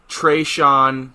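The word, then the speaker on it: Treshon: is are you ready for this no hashon treyshawn clinton dicks okay it's spelled h a apostrophe sean t-r-e-s-h-o-n clinton dix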